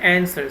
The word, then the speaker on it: answer: word I have the answer so W is silent in answer work so all the